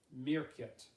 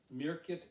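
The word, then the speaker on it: Märket: a very tiny island it's called uh mirket mirket in the baltic sea and even though it's this little tiny island it has two time zones does it smell is it spelled like a meerkat or no no it's it's spelled like market but the a has those little blue lots over it so um but the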